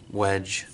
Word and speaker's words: Wedge: And then there is a D in my name, so I might include that because it makes a hard G sound, like J.